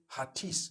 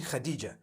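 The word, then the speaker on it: Hatice: I would say Hatis for that. No, it's actually Khadija.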